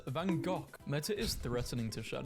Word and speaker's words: Van Gogh: Americans saying Van Gogh is pronounced Van Gogh. British saying it's pronounced Van Gogh. It's a Dutch name, and Dutch pronounce it as Van Gogh.